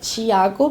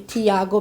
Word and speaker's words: Thiago: you if if you you want to call me in my in in my uh Native speak native language it be like Chiago but you can say Thiago because that's the most common pronunciation okay so you can